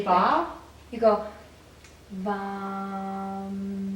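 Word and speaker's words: वं: You go VAM, like Really that.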